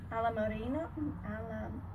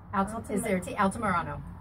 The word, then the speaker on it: Altamirano: Alamorino. Altamirano. That's it.